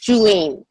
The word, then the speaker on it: Julene: Is that you say Julian or Julien? How do you say that? Okay, it's Julene. Julene, okay.